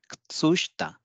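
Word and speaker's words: 靴下: So we will pronounce it as Kutsushita. So here you can see U between K and Ts is getting devoiced, and E between Sh and T is getting devoiced as per rule one.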